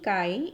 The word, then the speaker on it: chi: We will write like this and we will pronounce it as chi.